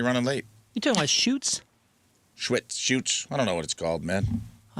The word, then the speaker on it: Schuetz: Where do you get Schwetz from? Shoots. There's no W.